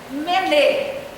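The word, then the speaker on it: מנא: A primeira palavra se pronuncia Mené.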